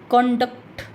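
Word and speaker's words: conduct: तो जब ये नाउन के रूप में यूज होता है तो हम फर्स्ट जो सिलेबल है उस पर स्ट्रेस डालेंगे। जैसे प्रोनाउंस करके देखिए, कंडक्ट, कंडक्ट, कन, कन को लंबा खींचेंगे, डक्ट को जल्दी से बोल देंगे, फ्लुएंटली बोल देंगे, कंडक्ट।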